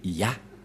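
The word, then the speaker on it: יה: La prononciation de ce terme est ceci, c'est Yah.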